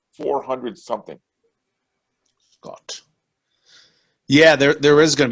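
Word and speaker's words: Skjodt: name at indiana something simon somebody assembly hall scott right yeah it's um the scott hall it's uh pronounced with the j yeah yeah it's silence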